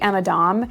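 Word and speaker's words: Emma Domb: And I had actually mispronounced this brand, so I thought that the B at the end was an L. So the brand is actually Emma Dom.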